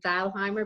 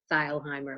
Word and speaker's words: Thalheimer: Yes, I'm the daughter of Richard Thalheimer, and I pronounce it Thalheimer because he always pronounced it Thalheimer. It was very important to him to become Americanized, and until I talked